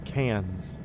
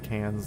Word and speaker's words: Cairns: Well, you say you pronounce it cans like soda can, but is it like the pure American nasely can or does it have like that Australian twang to it?